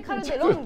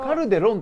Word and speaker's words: Calderón: とかさいやあのカルデロンって発音なかなかサッカー知らないできないよカルデロンカルデロンって言っちゃうからねダメですカルデロンカルデロンカルデロンまあまあまあ